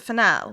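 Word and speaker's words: Fennell: Is it fennel? It's fennel, yeah, emerald fennel. And I just said it like it was the herb fennel.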